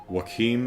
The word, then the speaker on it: Joachim: Joachim is how it's pronounced?